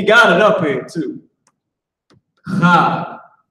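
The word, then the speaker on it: חג: devil, but man, listen, he knows how it's supposed to be pronounced. Now, will he pronounce it like that on his own? No, the hell he won't. He's a damn devil. Right. But the word feast is Chag.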